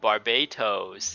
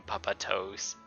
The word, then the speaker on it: Barbatos: god of the wind oh barbatos and she kind of mispronounced this same papa toes puppetos barbatos puppetos is the